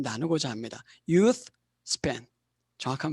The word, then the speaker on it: Youth Span: Youth Span, 정확한 발음입니다.